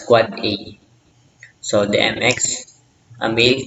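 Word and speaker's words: AAAA: the 4A unend devices IPv6 addresses pronounced as quad A.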